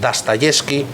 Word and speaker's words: Dostoyevsky: el bueno de Dostoyevsky, la profesora de ruso de allí de la Escuela de Idiomas diría Dostoyevsky, ¿vale? Parece que la O se pronuncia A, es lo que nos